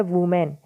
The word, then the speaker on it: women: इसके साथ ही टाइटल में एक वर्ड आया है WOMEN, जिसकी प्रोनाउंसिएशन होती है वुमेन, लेकिन जब भी ये स्पेलिंग WOMEN हो तो इसकी प्रोनाउंसिएशन क्या होगी? विमेन। ये बात ध्यान रहे थोड़ी सी।